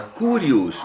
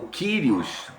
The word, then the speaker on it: kyrios: Cristo o senhor a palavra senhor' a palavra kurios ou kyrios os os estudiosos variam na pronúncia e ela era uma palavra usada em